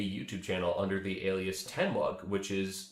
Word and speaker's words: Tenwug: But because of stuff like that, an encouragement from Matt, really, I started a YouTube channel under the alias Tenwug, that's how you pronounce the acronym TNWG, which is the Northwest Gamer.